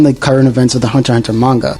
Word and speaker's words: Hunter x Hunter: from the Philippines, and Hunter x Hunter. No, you do not pronounce the X in the name, fight me.